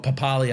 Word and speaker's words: Papali'i: dropped to hooker, and Joash Papali'i, or Papali, I think Joash wants to have his last name pronounced, Joash Papali, playing 5'8".